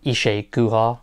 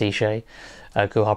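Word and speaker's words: Isa Guha: had uh was it ishay guha i think it's pronounced eshay gohar presenting um obviously you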